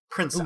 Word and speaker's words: Princeps: Which is properly said. Princeps. Clarifying it. Is it? Yes, but I am not saying it that Okay, way. fair. Well, I said it wrong either way, so, pretend I said it right. This is the Italian word rather than the Latin word.